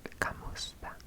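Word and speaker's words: kumusta: And hello in Filipino, hello in Filipino is kamusta, kamusta, kamusta, kamusta, kamusta, kamusta. 3 syllables, 3, count them, 3.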